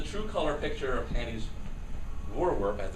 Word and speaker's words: Voorwerp: So this is a true color picture of Hanny's Voorwerp, as it's now called. Now the Voorwerp, or she told me how to pronounce it, Voorwerp.